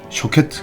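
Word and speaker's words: שֹׁקֵד: 이 살구나무의 발음과 지켜본다는 말의 발음이 비슷합니다. 살구나무는 샤케트이고 지켜본다 혹은 살펴본다 라고 하는 말은 쇼케트입니다.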